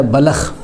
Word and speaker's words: بلخ: کا نام ہے بلخ، اس کو ہم بلخ پڑھتے ہیں لام کے سکون کے ساتھ۔ اصل تلفظ ہے بلخ، با کے اوپر بھی زبر اور لام کے اوپر